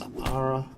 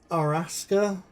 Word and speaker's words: Arasaka: I presume that's Arasaka is how they pronounce it. I wouldn't pronounce it that way. In fact, I don't pronounce it that way. I'd prefer to pronounce it Araska, just because they drop some of the additional vowels in Japanese.